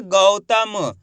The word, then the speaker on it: गौतम: दोस्तों गौतम नहीं पढ़ना अगर गौतम पढ़ोगे तो इस तरीके से ओ की मात्रा का उच्चारण हो जाएगा गौतम जबकि अपन औ की मात्रा पढ़ रहे हैं तो औ करके उच्चारण करेंगे एक बार फिर से